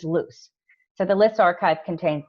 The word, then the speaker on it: LWS: Study, or LWS database, which we pronounce as LUS.